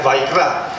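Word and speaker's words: ויקרא: Esto, o sea, por supuesto se pronuncia va y kra, pero la vav es i, la i con la conjunción.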